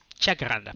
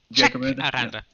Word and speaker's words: Jacaranda: How do you pronounce that actually, Zadora? Jacaranda? Jacaranda. Jacaranda? Jacaranda.